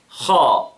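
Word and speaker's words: خ: Then, the letter of kha. Kha. Okay? Now, kha with fatha, kha. Notice how I, you know, make my mouth, right? My mouth, subhanAllah, with the kha is, you know, strong, right?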